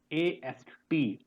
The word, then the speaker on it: asked: So ASKED. So K and E both are silent, and it is being pronounced as asked. AST.